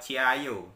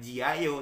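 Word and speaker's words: 加油: kyochi ciayo gitu ya Jadi ciayo bukan Ji Ayo tapi ciayu kemudian kalau dia ada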